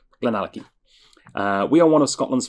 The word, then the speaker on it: GlenAllachie: That's GlenAllachie. Nice pronunciation guide there, just in case. Because I have had people think it was GlenAllachie or GlenAllachie. I don't know. GlenAllachie.